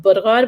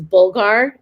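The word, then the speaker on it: bulgur: you don't have um in arabic it's called burgod which is bulgar that's how americans say it bulgar you can use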